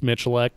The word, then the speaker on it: Miculek: to spell his last name yeah most people mispronounce it it's Mitch elect so yeah Jerry Miculek has a video on cross-training and you know